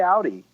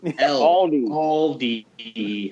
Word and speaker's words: Aldi: aldi i say aldi you say audi wait a minute you're not talking about the car blake no i'm talking about the food store oh yes you need to learn how to pronounce the l yeah take it from